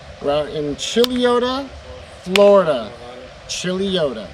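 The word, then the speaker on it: Chuluota: out in chileota florida chili yoda that's right i said it right chili oda there she is she's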